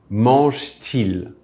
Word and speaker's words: mange-t-il: These are only for pronunciation purposes because our verbs end with a vowel and our subject pronoun starts with a vowel, which makes it hard to liaise.